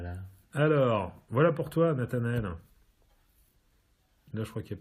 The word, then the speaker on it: Nathanaël: Ah oui, Castor arrivera-t-il à prononcer correctement Nathaniel et pas Nathanaël? Bah, c'est Nathanaël, c'est ce qu'on dit depuis le début.